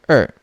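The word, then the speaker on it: 二: in chinese oh sure er remember usher because the number two is in the minutes not in the hour so it still follows the er pronunciation we have now usher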